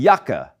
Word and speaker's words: Jacke: It's always pronounced as a soft Y sound, as in der Januar, die Jacke, die Mayonnaise.